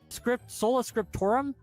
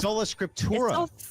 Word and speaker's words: Sola Scriptura: Just, Sola Scriptura. It's so. Yeah, the M. There's no M.